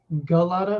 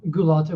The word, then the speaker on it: Gulotta: There are actually two ways that I found people pronounce it. Gulotta, which is what you hear in America a lot, and Gulotta, which is the correct pronunciation. So either way, I'm fine with it. But right. Gulotta is what I hear a lot over here in the States.